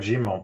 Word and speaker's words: Germain: med it's okay it's a french name gmo but uh i i take